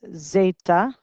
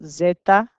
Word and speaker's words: zeta: kind of depends repeat and this guy is zeta and he is pronounced like a z so zeta repeats and then we have three sounds that